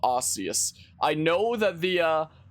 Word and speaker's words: Arceus: that which humans call osseous i know that the uh i do know that the correct pronunciation is supposed to be like arceus i don't care i